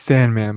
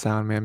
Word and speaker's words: Sandman: oh yeah yeah it's it's Sandman but but actually it's pronounced sound man because yeah then we